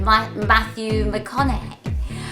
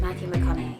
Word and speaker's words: Matthew McConaughey: usual, but I also got a bit of Matthew McConaughey. I think that's how you say his name, Matthew McConaughey.